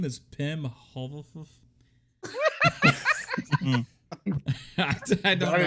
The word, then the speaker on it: Pim: It's not Tim. It's Pim. Pim Pim Hovelfuff. This is a rich man. I can't see shit now. So how am I gonna read this? That's spelled P-I-M or P-Y-M, like Pim Particle? P-I-M, like Tim with a P.